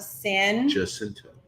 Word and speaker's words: San Jacinto: and the Battle of San. Jacinto. Oh, see, I was going to say it different. Jacinto. Yeah, I was going to say it like we that. say in Texas, we say San Jacinto.